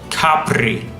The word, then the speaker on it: Capri: don't stress the I Capri the accent goes in the a in english this sounds